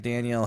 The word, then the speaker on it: Danielle: should be paid like Danielle Hunter who signed uh two years Daniel Daniel it is spelled like Danielle to fair I think